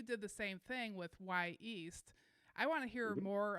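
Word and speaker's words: Wy'east: Y East, which is spelled WY''EAST, is the Native American name for Mount Hood.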